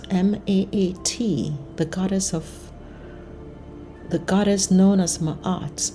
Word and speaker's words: Maat: Thoth, I hope I'm pronouncing that right. It's Thoth. Thoth embodied wisdom and the power of language. Maat, M-A-A-T, the goddess known as Maat, embodied truth and balance.